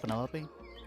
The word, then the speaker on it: Penelope: Penelope? Officially, yes, but I never can be bothered with all 4 syllables of it.